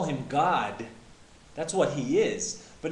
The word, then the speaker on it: Gad: and then it says g a d and you might pronounce that Gad but if you look into the Hebrew concordance the actual pronunciation is God and it's very similar